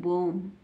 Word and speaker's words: bomb: तो बी को नहीं पढ़ना, बी साइलेंट रहेगा, केवल बॉम्ब पढ़ेंगे।